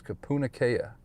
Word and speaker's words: Kapunakea: But eventually, if you watch enough news reports, you'll figure out how to pronounce everything. So there it is, Kapunakea.